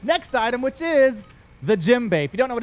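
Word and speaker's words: djembe: item, which is the Jimbe. If you don't know what a Jimbe is, it's spelled with a D, but it's just a drum from Africa.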